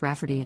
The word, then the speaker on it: Rafferty: I don't know if you remember my post from a few weeks back about my sister wanting to name my niece Rayfarty, pronounced Rafferty, not at all like Rayfarty.